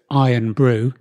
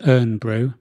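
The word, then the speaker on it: Irn-Bru: And was told often that it was urn brew. And the person who was with me was from up north. Because it is spelled IRN, isn't it? Urn.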